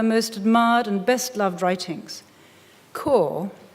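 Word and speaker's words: Kôr: Core, exotically spelt with a circumflex over the O, sounds like the core of something, and indeed in the story it inspires yearning to reach it, an ultimate elsewhere.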